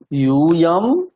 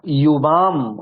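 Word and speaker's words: युवाम्: युव्यं হুম युव्यं गच्छतः ইউয়াম গচ্ছ, কি বললেন আবার বলুন? আমি বলেছি তোমরা দুজন ইউয়াম যাচ্ছ। হ্যাঁ युव्यं गच्छतः হ্যাঁ, ইউবাম উচ্চারণটা হবে ইউবাম, ইউবাম গচ্ছতঃ।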